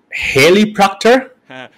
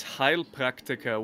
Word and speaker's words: Heilpraktiker: try to pronounce it haley proctor well no it's actually it's heil practica which literally translated means heel practitioner and let me explain